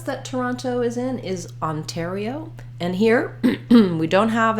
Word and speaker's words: Ontario: NT this time we we do always say that t Sound Ontario with that puff of air because it starts the stress syllable so in a word like Hotel or guitar downtown when we're we have stress on that syllable that starts with the T we use it just like the beginning so tell Hotel Terio